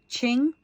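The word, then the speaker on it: Qing: or whatever it is it's pronounced Ching so Q is ching ching ching chingu ching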